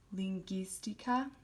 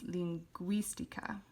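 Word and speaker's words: lingüística: it would be pronounced lingistica but by putting the two dots above the u and we have an accent here on the eye it becomes linguistica so instead of gi it's gui so we're changing the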